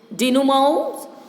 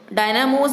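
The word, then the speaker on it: dynamo: To generate all kinds of power like डायनामोज, डिनोमोज and other devices. इसका pronunciation थोड़ा देख लेना बच्चों, डायनामोज बोलते हैं पर इसका प्रोनाउंसिएशन DINUMOW यानी डिनोमो ये होना चाहिए।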